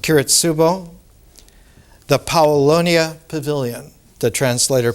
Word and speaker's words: Kiritsubo: The very first one, in Japanese pronounced Kiritsubo, the Paolonia Pavilion, the translator puts underneath Kiritsubo.